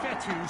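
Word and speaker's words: Fetu: so coach fetthy spelled f-e-t-u for the longest time i was pronouncing it like feta cheese so let's just say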